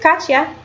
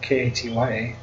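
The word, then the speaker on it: Katjaa: Her name is Katya. They spell it strange because you would just think it's K-A-T-I-A. Or K-A-T-Y-A.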